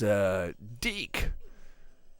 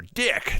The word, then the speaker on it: DiC: Now, the big creator of the show is Deke. Oh, or Dick, depending on how you pronounce it. No, say it properly. It's Deke. Well, it's... yeah, seriously, it's Deke, right?